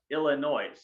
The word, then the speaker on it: Illinois: i'm like mom for the last time it's pronounced illinois i'd rather go hey rather go to iowa